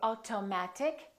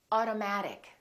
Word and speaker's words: automatic: say water Auto auto automatic we don't say automatic we say automatic metal we don't say metal we say metal